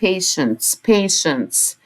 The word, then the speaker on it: patients: TI هنا بننطقها ش، يبقى عندي مرضى يعني patients.